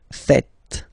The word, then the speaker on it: faites: It's vous faites. Vous faites. Okay? So remember, final S here is not pronounced, and then this is not pronounced either.